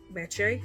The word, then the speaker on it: Meche: to pronounce it correctly i tell everybody it rhymes with leche and if you know any spanish leche means milk so mache like lache so say the word leche milk in spanish and then say my name miche like leche and so therefore it is easier to pronounce and it's also something